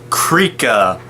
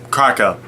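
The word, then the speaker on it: Krahka: This Rahi's name is Krika. Not sure if I'm... Kraka. Yeah, Kraka. That's how you pronounce it.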